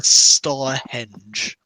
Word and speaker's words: Starhenge: Arleosa Starhenge, like Stonehenge except Starhenge.